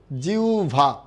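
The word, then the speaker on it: জিহ্বা: তখন উচ্চারণটা কি হবে? জিউভা। উচ্চারণটা কি হবে? জিউভা।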